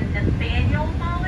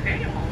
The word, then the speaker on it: Faneuil Hall: Lab's local dome on top, that is called Faneuil Hall. Faneuil Hall. Begins with an F. I specify that because it cracks me up when someone from not around here asks me where Nathaniel Hall is.